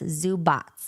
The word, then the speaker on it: Zubac: And I looked it up, and it says that the C in his last name is TS, Zubats.